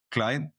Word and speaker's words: Klajd: with po system so my name is Clyde as you rightly pronounced Clyde I am um